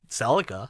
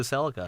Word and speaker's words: Celica: I guess yeah okay if you go to the Philippines they say Celica Celica yeah yeah well even like like I said States I saw the ' 80s commercial or whatever and it's yeah Celica in the states too they pronounce it Celica yeah we ask Siri